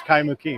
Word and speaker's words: Kaimuki: So, it is it's Kaimuki, right?